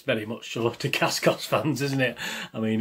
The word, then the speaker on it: Dacascos: And obviously, if you're a Dacascos fan, or I don't even know how you pronounce his name. Is it Dacascos? Yeah, Dacascos.